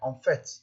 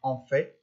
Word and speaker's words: en fait: Ici, on doit prononcer le T final. En fait, c'est pas en fait, c'est en fait.